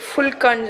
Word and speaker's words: phulka: அது actually spelling வந்து PHULKAன்னு வரும். ஆனால் ப்ரொனவுன்ஸ் வந்து ஃபுல்கான்னு சொல்கிறாங்க.